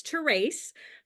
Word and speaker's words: Therese: have a strange name my name is spelled all e but it's sounds long a and everyone not everyone